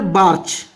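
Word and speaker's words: Bachrach: Okay, next scholar है Peter बाचरच। Okay, next scholar है Peter बाचरच, जो कि देखिए यहां पर CH साइलेंट है। पीटर बार्च, आपको पढ़ना है पीटर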